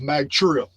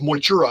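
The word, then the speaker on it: Mag Tuired: Now, in May, the Tuatha Danann invaded Ireland in the Battle of Magtura. It's actually pronounced Moitura, I believe.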